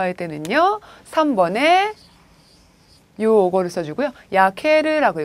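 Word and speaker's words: 焼ける: 야케르라고 읽어주시죠. 야케르.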